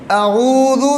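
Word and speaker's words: أعوذ: باللہ من الشیطان الرجیم۔ اعوذ، اس میں پہلے ہے حمزہ اور اس کے بعد ہے عین، حمزہ اور عین میں فرق ہے۔ اعوذ باللہ من الشیطان،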